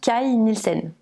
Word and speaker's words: Kay Nielsen: cai nilsen alors oui ça s'écrit à priori ken hill scène mais il semble que vu qu'il est danois ça se prononce kyle nissen calme il scène il